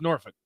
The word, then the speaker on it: Norfolk: It's pronounced Norfolk. Norfolk? Norfolk.